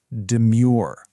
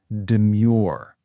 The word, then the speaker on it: demure: Let's break down how to say it, putting the stress on the second syllable. Practice it with me. Demure. Once more, really feel the shape of the word. Demure.